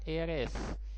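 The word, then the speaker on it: heir: एयर, एयरेस, ये हेयर बोल सकते हो आप, लेकिन एयर होता है इसका ओरिजिनल जो प्रोनाउंसिएशन है, एयर, एयरेस।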